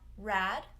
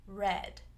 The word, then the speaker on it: red: So I might hear some sort of mix of E and A, especially in a word like red, where it might sound like rad. So we don't want rad, we want red.